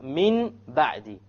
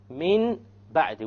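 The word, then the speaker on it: من بعد: Here we have min ba'di. Min ba'di. We have noon sakin followed by a ba. How do we pronounce it?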